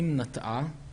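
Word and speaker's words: נטעה: When you look in the Tanakh it's read as "nat'ah" but written as "natah" In the Torah we have written form and pronunciation form It's written one way....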